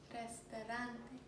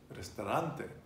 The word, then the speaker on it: restaurante: tell you is that when you have a word, again, that ends in a vowel, the stress is always on the penultimate syllable, and that's muy importante. Muy importante. What would be restaurant? Restaurante.